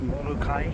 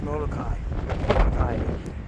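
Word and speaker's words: Molokaʻi: It usually means you pronounce the vowel separately. Otherwise, it's Kai. A-I is I. And if there's an apostrophe between the A and I, it's I.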